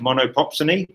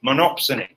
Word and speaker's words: monopsony: learning about a monopsony i couldn't pronounce it correctly so i kept calling it monopoly right until my sister corrected me and said no it's monopsony okay all right a minoxidil